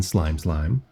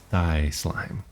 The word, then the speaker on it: Slime Slime: Welcome in, Slime Slime. I said it right this time instead of thigh slime.